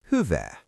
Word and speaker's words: hyvää: "Good" in Finnish is Hyvää. Mnemonic: Think of someone asking "Hy-vää are you doing?" and you say "Good!"